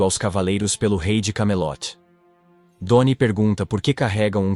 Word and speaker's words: Camelot: conquistar o rei de camelote para evitar que outros passem por experiências como as dele sim elogia Sua determinação mas corrige que a pronúncia é Camelot não cy como Percy disse Percy lembra do jogo